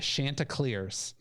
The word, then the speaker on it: Chanticleers: i i think i found out how to pronounce it the shanta clears um the the fighting chanticleers of coastal carolina